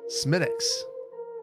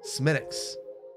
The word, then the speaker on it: Smithwick's: uh Buford Highway ah smithwick's is pronounced smittix smittix well an honor of